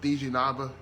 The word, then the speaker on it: Dejenaba: giving it to miss dj nava that's i said it right yeah okay okay i'm very